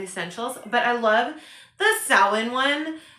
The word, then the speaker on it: Samhain: It's by Llewellyn and it's a Sabbath essential, and I know it says Samhain, but it is pronounced Samhain.